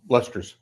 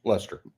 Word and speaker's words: Leicester: long win at like what's that leicester is that how they pronounce uh lester's lester lester at leicester so uh perhaps it's